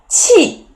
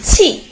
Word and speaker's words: 气: 气 the pronunciation is 气.